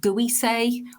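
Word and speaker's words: Gewisse: difficult to pronounce or spell it it's g e w i double s e uh maybe guise would perhaps be the closest to it but again nobody's quite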